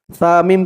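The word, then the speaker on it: ثُمَّ: সা মিম পেশ সুম, মিম জবর মা, সুম্মা সুম্মা, র দাদ, র দাদ,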